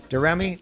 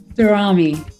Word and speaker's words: Daramy: Daramy? Oh, I said it wrong. Daramy.